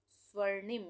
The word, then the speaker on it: स्वर्णिम: स्वर्णिम, यहाँ पे भी आधे सा का उच्चारण हो रहा है, तो आधा सा बनेगा स्वर्णिम। इसको हम क्या पढ़ेंगे?